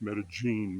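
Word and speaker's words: Medellín: It's pronounced Medellin by the Paisa people that live here.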